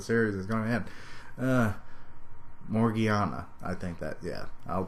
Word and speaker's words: Morgiana: Morgania. Yay. Or, am I even pronouncing that right?